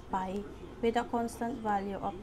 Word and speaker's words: pi: into two equal parts pi is a greek letter pronounced as pi with a constant value